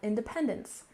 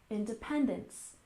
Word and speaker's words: independence: dinner next we have independence with a stress on the third syllable Independence Independence and this refers